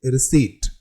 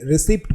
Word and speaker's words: receipt: Next word is very popular which is रिसीट। अक्सर लोग इसे रिसिप्ट बोलते हैं।